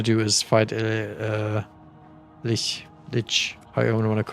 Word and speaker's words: lich: So, it's it's supposed to be lich cuz I would call it a li or le, but I guess that is uh something the Dutch also would say if they were trying to to pronounce it. All right. So, it's ditch.